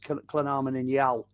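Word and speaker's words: Llanarmon-yn-Iâl: And then IL is Llynarmon in Yal.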